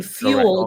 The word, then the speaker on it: fuel: let people know like when you have a dip thong like a word like fuel fuel uh ill fuel fuel. So, right, the the the there the way you pronounce it when you say fuel. Even though it's two, there's the U and the E. You're saying few L, you're not saying f L, you're saying fuel.